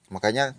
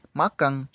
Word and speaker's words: makan: sering terjadi misalnya e penambahan huruf g pada kata makan menjadi Makang ini tidak betul hal ini sering terjadi